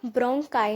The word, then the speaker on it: bronchi: तो होता क्या है, ट्रेकिया था, ट्रेकिया हमारा ब्रोंकाई में डिवाइड हुआ, ये होती है ब्रोंकाई की स्पेलिंग BRONCHI, ठीक है, ब्रोंकाई में डिवाइड हुआ, ये ब्रोंकाई और ये वाला ब्रोंकाई।